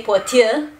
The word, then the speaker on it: платя: Bulgarian, not being a completely phonetic language, actually we write платя, but we say платя.